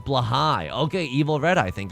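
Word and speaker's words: Blåhaj: It's pronounced blahai.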